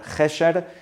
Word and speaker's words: Gesher: Gesher sin U, se escribe Gesher, se diría en español Gesher.